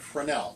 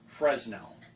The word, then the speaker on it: Fresnel: Fresnel lens, and yes, I said Fresnel, not Fresnel. The S is silent.